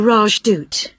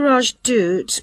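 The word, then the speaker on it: Rajdoot: in weatherfield is supposed to be excellent the raj dude oh how do you spell that r a j d o o t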